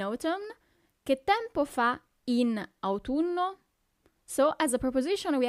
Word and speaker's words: autunno: Then we have autumn, autunno, autunno. So you really have to pronunciate those U's, okay?